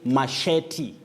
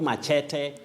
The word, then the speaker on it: machete: George Njabia, you say machete, not machete or machete.